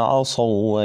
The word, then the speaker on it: عصوا: على القاف ذلك بما عصوا وكانوا يعتدون عندي طبعا هنا في ها ادغام لايه ادغام للواو لن تنطق هذه الواو عصو ها شايفينها قلت لك